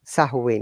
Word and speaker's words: Samhain: Samhain. Yeah, M is silent. Samhain. Yeah, okay. Tradition of Samhain.